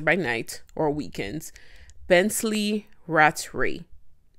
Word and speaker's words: Rattray: The second one is a 49-year-old teacher by day and a pastor by night or weekends, Bensley Rattray. I think that's how his last name is pronounced.